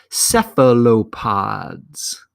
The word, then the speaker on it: cephalopods: vocabulary words it's spelled C Eph al o P o D s and it's pronounced cephalopods so the pH is an F sound and the C is the S sound cephalopods so Nautilus is